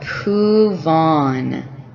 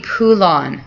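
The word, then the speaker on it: pouvons: then for the new what is new pouvon pouvon i'm gonna zoom out for a sec when i tell students they're similar and i have them predict they'll always tell me pulan they think it's going to be pulan because it's vulon but notice it was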